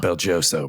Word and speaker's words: BelGioioso: It's pronounced Belgioso, but yeah.